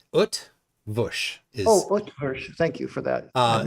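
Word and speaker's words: Eötvös: the Earth version yeah there's no there's no r sound UT Bush thank you for that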